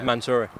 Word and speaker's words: Mansouri: Am I pronouncing that right? Yeah. Mansouri. Mansouri, yeah.